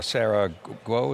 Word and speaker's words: Sarah Guo: was physically there with Frank, you know, discussing Sarah Guo, is that how you say her name?